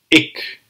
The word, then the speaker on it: ik: First one is the I. The I. Ik. Ik. As you can see, you will hardly have to open your mouth.